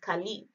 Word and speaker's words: Caleb: In Arabic, Caleb is pronounced Khalib, and dog is pronounced Al-Kalb.